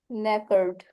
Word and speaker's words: knackered: Knackered. Knackered. Knackered. नेकर्ड एंड के जो है ना इसमें साइलेंट है.